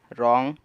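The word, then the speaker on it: wrong: वैसे ही दूसरा एक्सांपल है रॉन्ग इसमें भी आ रहा है और उससे पहले डब्लू है इसलिए डब्लू को नहीं पढ़ा और राइटर राइट 10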